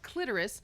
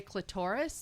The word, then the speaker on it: clitoris: uh so number one the word clitoris now that's how it's pronounced some people say clitoris that's incorrect stop that um it's annoying well